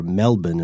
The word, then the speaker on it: Melbourne: this thing to be in downtown Sydney or Melbourne or something which is how you pronounce it so uh but by 1970 over